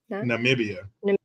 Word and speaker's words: Namibia: constit how do you say it n namian Namibia Namibia yeah so they have they have Article